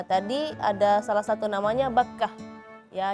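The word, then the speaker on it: بكة: Ya, tadi ada salah satu namanya Bakkah. Ya, jadi harful kaf. Tadi Azkia agak sedikit menebalkan kafnya jadi Bakkah. Nah, kalau Bakkah dalam bahasa Arab itu serangga yang biasanya di tempat tidur.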